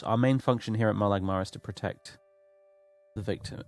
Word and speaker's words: Molag Mar: The Molag Mar, apparently that's how you say it.